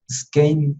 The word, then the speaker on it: Skanes: Esta es una imagen que yo tomé de un artista que trabajó ya sobre esta serie que se llama Mike Skane, se escribe Skanes, Mike, M-I-K.